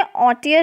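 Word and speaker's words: haughty: अब इसमें ऑटियर है इसका प्रोनंसिएशन, इसमें एच जो है वो साइलेंट है, तो इसको हम बोलते हैं ऑटियर।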